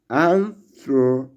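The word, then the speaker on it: ἄνθρωπος: This word is pronounced like anthropos, anthropos, like anthropology.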